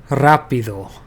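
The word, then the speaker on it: rápido: Here the emphasis is on this a rapido.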